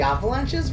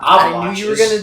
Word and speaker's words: The Avalanches: yeah aside you pronoun you pronounced them they Avalanches not avalan I knew you were going to do I knew you were bring it up oh yeah call them The Avalanches it's cuz you're [